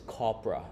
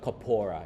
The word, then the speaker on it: corpora: And the plural of this is not corpuses, it's corpora, okay? Corpora, it's a beautiful word. Not corpora either, you know. Some native speaker will call corpora, like tempura, you know, but it's corpora, okay? Say it right, and you're gonna sound really cool.